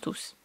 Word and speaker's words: tous: pose pas la question puisque tous bah ils se prononcent tous il y a donc un S la mariée était toute